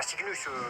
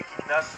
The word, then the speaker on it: Kygnos: Bah oui, ça se prononce Kygnos. Pas Cygnus, cher ami. Oh, c'est Kiknas, effectivement.